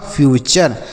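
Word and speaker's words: future: एफ यू टी यू आर ई। तो एफ ई से पढ़ेंगे फ्यू। और टी यू आर ई को पढ़ेंगे चर तो लिखा है फ्यूचर उसके बाद सी यू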